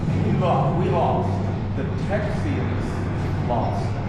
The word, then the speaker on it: Texians: lost the texians lost now did I mispronounce the word Tex I said texians that's what they called us in those days they did not call us Texans until we got annexed into the United States but that was not